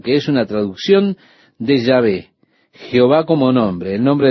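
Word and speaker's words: Yahvé: las vocales que faltan el consenso general de opiniones que el nombre sería pronunciado llave pero en algún momento la pronunciación Jehová se popularizó más que ya ve Ahora probablemente Ya ve es la pronunciación correcta pero con seguridad de eso no lo sabemos Este es el nombre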